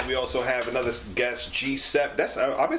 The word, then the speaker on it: Gsep: I just say Gsep. All right, I'm just making sure. That's what I see. Like maybe it's not even that. It's like some other pronunciation. Yeah. Gsep. Gsep.